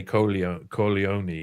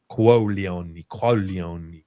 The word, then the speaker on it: Corleone: You got to say it right though, because if we say Corleone, we're saying balls like testicles. We should be saying Qualioni, like that.